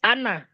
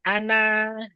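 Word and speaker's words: أنا: Di kalimat ana itu pasti ada lonjong bulat. Nah, itu tidak dianggap ya, tidak dianggap alifnya. Jadi bacanya bukan ana, nggak dibaca panjang tapi dibaca pendek.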